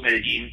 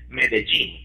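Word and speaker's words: Medellín: my hometown, City of Medellin, but some of the local folk would pronounce it Medellin, like the word gene there.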